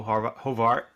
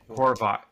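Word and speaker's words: Horvat: Chris Theofield was was complaining about Bo Hovart. Horvot Horvot. I'll never pronounce his name properly.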